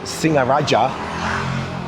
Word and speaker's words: Singaraja: But if you see a word with only one g so ng only like singaraja you know that there's no hard g in there.